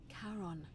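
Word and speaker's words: Charon: As in Karon, the fairyman of the dead. Karon, who in exchange for the right coin, helps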